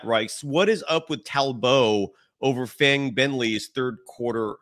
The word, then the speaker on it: Talbot: Yeah, Talbot, it's actually kind of funny because Steph is from Australia. So you kind of pronounce her last name in a little bit of an Australian accent. So it's like Talbot. Talbot, if that, yes. Yeah. So that's how you say it.